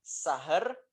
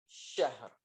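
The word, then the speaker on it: شهر: Bukan sahar, tapi yang benar adalah khairun min alfi syahr. Ya. Dengan shin yang tebal.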